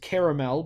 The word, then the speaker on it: Carmel: okay mount carmel well i choose to pronounce it caramel but that's fine caramel is of course an okay pronunciation of the word of course not the same word they used they still spell it with an a i believe right yeah people who say caramel still pronounce caramel the same way with an a but you know it just really depends where you're from doesn't really matter it's